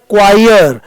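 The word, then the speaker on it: choir: इसका pronounce it's क्वायर।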